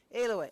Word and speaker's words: Alway: How do you say your last name? Alway. Okay. Long A.